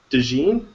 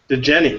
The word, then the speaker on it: DeGenny: Right now we have, is it DeGene? DeGenny. DeGenny. Yeah. You know, those J's, those soft J's. Frequently mispronounced.